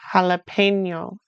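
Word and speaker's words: jalapeño: So for example, the J in jalapeno is from Spanish and so it's the same in German, jalapeno. Or the J in job is job like in the English j.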